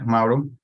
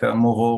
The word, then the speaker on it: Mauro: marco mauro yeah mauro it's one of the most difficult names to pronounce for non-italian speakers i guess um this is a you which is pretty tricky it seems i was thinking like the new zealand maori mm-hmm although i could